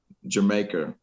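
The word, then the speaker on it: D'yer Mak'er: would listen to like uh jamaica as or the americans say dyer maker um and uh you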